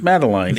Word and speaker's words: Madeline: Is it Madeline Marcotte. or Madeline? No, it's pronounced Madeline.